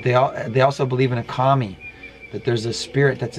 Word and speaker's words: kami: K-A-M-I. I don't know how else to say it, because that's how you pronounce it.